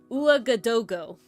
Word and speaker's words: Ouagadougou: Ouagadougou. That's how I say it. That's how I pronounce it.